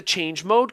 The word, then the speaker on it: chmod: To change permissions, I use the change mode command, which is spelled chmod.